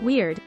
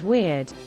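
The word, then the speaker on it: wyrd: The Shakespearean comes from the Old English word weird, pronounced like weird, but round your lips on the vowel, which meant fate, the fates.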